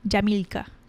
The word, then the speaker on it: Jamilka: so Jamila say that again jka bores Jed jamilka how do you spell that j a m i l k a